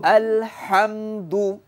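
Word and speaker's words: الحمد: আলহামদু আলহামদু আলহামদু আলহামদু। হায়ের মধ্যে বাতাস বের হবে।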